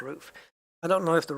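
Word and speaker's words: RUF: I don't know whether the rough in this one is roof it's pronounced roof I don't know if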